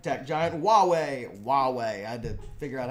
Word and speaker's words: Huawei: unreasonable suppression of Chinese companies like tech giant Huawei Huawei I did figure out how to pronounce that one Huawei Huawei Huawei uh so basically the country that